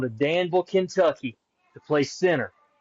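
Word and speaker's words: Centre: Barry's going to Danville, Kentucky to play center. Spelled like cree, but you say it's center.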